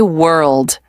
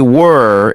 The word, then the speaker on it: world: Now try world. World. World. Good. The L at the end is important. Many learners skip it. I do skip it. Sometimes I say were instead of world.